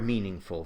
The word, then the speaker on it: meaningful: A dictionary will tell you that there's a primary accent on the first syllable, the root syllable, mean, but it may also tell you that there's a secondary accent on the last syllable, full.